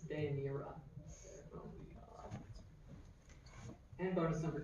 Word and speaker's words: Deianira: Deinaria. No, I'm sorry. Close. It's Deianira.